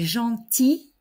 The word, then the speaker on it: gentil: plus problématiques il est gentil elle est gentille en ne prononce pas le l au masculin il est gentil elle